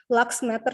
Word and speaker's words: luxmeter: Luxmeter sih kalau cara bacanya. Kalau tulisannya LUX meter.